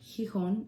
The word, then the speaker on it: Gijon: you that don't know my name's hon if you didn't know how to pronounce it and i upload makeup